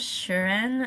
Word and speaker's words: Shireen: Um, my real name is Shireen. Um, the pronunciation is kind of hard, but it's spelled um s h i r e n.